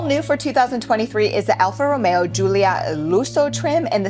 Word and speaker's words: Alfa Romeo: So you have to roll your R's. So pay attention. It's Alfa Romeo.